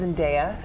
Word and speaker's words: Zendaya: Did you know, by the way, it's actually pronounced Zendaya?